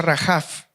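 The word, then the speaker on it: רחף: Ahora, la palabra movía en hebreo se pronuncia rajaf y significa moverse para empollar temblando.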